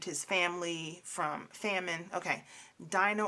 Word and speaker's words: Dinah: family from famine okay dinah ordina i think her name in hebrew is pronounced dina but she is in